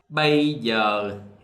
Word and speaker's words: bây giờ: So what I know so far is the A with the hat and the Y pronounced different from the South. They pronounce like this, A. In the South, we pronounce like this, A. So the Northerners, bây giờ.